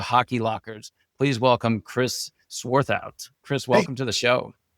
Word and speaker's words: Swarthout: It's sworth out, which is like it's German, so if you say it like you're angry, you know you said it right.